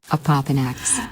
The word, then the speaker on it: Opopanax: Now today, I'm gonna do a profile on Opopanax. And yeah, that was a little hard to pronounce, so I had to ask Google Opopanax for the correct pronunciation.